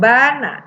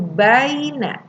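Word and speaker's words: بَيْنَ: Jangan bana tapi baina, dilembutkan membacanya.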